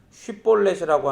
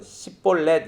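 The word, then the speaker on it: 쉽볼렛: 그러니까 이 장면은 사사기에서 길르앗 사람들이 요단강 나루터에서 강을 건너려던 에브라임 사람들이 쉿볼렛이라고 하는 이 발음을 하지 못해서 십볼렛 이렇게라고 얘기하면 죽여요.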